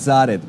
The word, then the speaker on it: Zarid: So thank you very much for joining us in the studio, Zurrat. I hope I'm pronouncing your name right. Got it. It's Zarid.